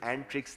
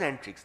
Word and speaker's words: Antrix: It was an agreement between Antrix, which we now pronounce as Antrix, but it actually is Antrix, as in space. But everybody, even the gentleman, the CMD of Antrix says Antrix, so we're saying Antrix.